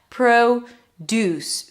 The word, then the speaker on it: produce: produce.